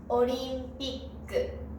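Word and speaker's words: オリンピック: 後ろの音の子音をもう一つ書きます。そうするとこの発音はオリンピックと読みます。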